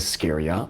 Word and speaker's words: Scheria: Books 5-8 are Odysseus’ journey to Scheria (Ske’-ri-a).